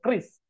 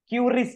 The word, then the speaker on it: QRIS: Jadi kalau di Maju Pay itu untuk QR-nya atau krisnya, jadi bacanya itu bukan QRIS ya, Bapak Ibu-ibu ya, tapi ada informasi dari Bank Indonesia untuk QRIS itu bacanya adalah kris ya.